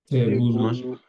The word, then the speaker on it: tebulu: It's just like a borrowed word from the way people were mispronouncing the word table. So we are just mispronouncing it table, and it got stuck.